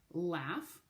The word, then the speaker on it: laugh: Laugh, good word to be able to spell. Another one with tons of silent letters. L-A-U-G-H. G-H, remember, can make the f sound like in the word graph.